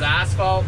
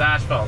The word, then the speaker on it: asphalt: in the Ottawa Valley everyone says Asheville you might have the odd guy that says asphalt but that's always the guy who calls his dad a Z so don't like yeah so I'm not saying it wrong myself it's just how we say it around here is Asheville so I got 17